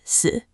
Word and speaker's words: 死: Another word, 死, meaning death, is also pronounced 死, but with a different tone.